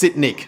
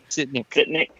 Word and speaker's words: Sitnik: She told me how to pronounce her name in the email. let me make sure. Yeah, it's Sitnik. Okay, there we go. Sitnik.